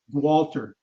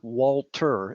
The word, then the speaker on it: Gualter: Gualter, Yeah, it's not Walter, it's Gualter, right? that's correct. Gualter.